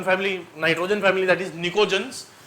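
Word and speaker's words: pnictogens: नाइट्रोजन family को बोला जाता है निकोजंस। पी साइलेंट है।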